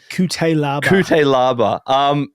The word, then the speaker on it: Cutelaba: Cutelaba, is that how you pronounce his name? Yeah. Cutelaba.